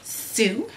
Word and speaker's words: TSU: information about TSU um it is pronounced Sue um and it is